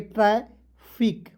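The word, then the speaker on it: traffic: हूं कितना सिंपल है टी आर को ट्र लिखते हैं और दो कंसोनेंट के बीच में ए आएगा तो उसको उच्चारण ऐ के रूप में तो हो जाएगा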